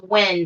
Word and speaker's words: Nguyen: his nationality but his his last name is when but it's spelt n-y-g-u-e-n so i want to